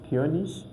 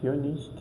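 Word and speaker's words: König: So it will be like ish, ish, or the egg. So for example, we have this word Kionish meaning king, Kionish king.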